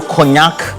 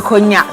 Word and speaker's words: cognac: bottle of champagne, bottle of premium whiskey or cognac. Those who tend to love a lot of Hennessy, you know, Kim Paluta has a song which has a lyrics. I like Hennessy. how you pronounce the cognac.